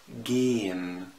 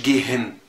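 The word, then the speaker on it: gehen: اذا جه يا جماعه حرف الها بعد حرف متحرك بنطق الحرف المتحرك ومده، ما انطقش الها لان مش تطلع معايا، هتعذبك في اللغه. يعني ايه؟ يعني بنطق جين، ما تقوليش جيهن.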